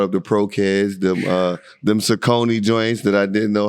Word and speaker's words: Saucony: OGs that brought up the Pro Kids, them Saucony joints that I didn't know had a nice little play. I didn't know Saucony had basketball sneakers. Yeah, it's funny because it's actually Saucony.